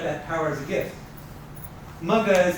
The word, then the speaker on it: Magha: Correct way to say it is Magha. Most of these nakshatras are names, and they're in female form because the nakshatras are feminine. So put a long sound at the end of every name, and then you're closer to saying it right.